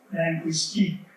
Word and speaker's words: linguistique: In French, is linguistique, stresses on the last syllable.